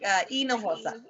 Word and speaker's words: Hinojosa: It's just pronounced E, like Hinojosa.